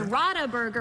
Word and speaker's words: Radeberger: How do you pronounce that? Radeberger? This is Radeberger Pilsner. Radeberger.